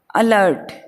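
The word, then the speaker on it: alert: अगला मीनिंग है अपना अलर्ट। हमें आर को नहीं बोलना होगा, तो हम बोलेंगे, अगर आर को साइलेंट करेंगे तो किस प्रकार से बोलेंगे, अलर्ट।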